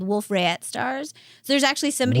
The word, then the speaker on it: Wolf-Rayet: it's French, you don't pronounce the trailing consonant. Right. I So recently- Wolf-Rayet.